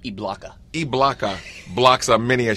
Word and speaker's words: Ibaka: It's pronounced Ibaka.